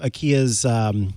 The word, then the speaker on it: IKEA: commercial about the brand I ke a and in that commercial the voiceover pronounce it as a kia and not IKEA and so in my